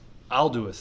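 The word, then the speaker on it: Aldous: Alduus, thank you.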